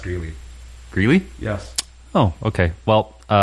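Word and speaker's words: Grelle: I believe it's pronounced Greeley.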